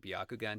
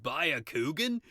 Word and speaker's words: Byakugan: a surfer dude and he didn't even pronounce it Byakugan he called it Bakugan I like that no haven't